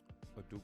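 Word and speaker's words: Udoka: you a question do you think if um a duke who was still on the bench that's how you pronounce his name from boston you think they'd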